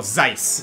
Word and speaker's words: Zeiss: one z let me see z e is zees i was never sure how to pronounce that name oh zeiss nice um heath and vita cormag jill haar